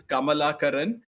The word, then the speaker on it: Kamalakaran: So it's pronounced as Kamala Karin and believe it or